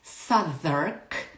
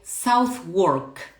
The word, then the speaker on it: Southwark: We spell it Southwark. You will see when I write it down. Southwark Cathedral, but it's pronounced Southwark. Okay, in Spanish we would say Southwark, but it's not.